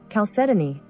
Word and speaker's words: chalcedony: the high sponsor okay i am right it is four syllables so whoever keeps putting three syllables it is indeed four chalcedony okay that is not